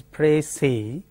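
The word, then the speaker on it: précis: pronounce it is has precis s the final s is silent in French that the convention is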